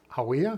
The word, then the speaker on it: Hawea: Okay, well, I am currently at Lake Hawea, is that pronounced right?